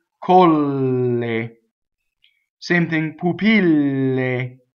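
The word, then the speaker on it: pupille: thing poopy lay right so double L so this is a good line for double l1 danger is to double the P right poopy lay so if you stop for nation before the pH double P poopy lay so keep the word propelling itself forward and stop on that Double L poopy lay next paddle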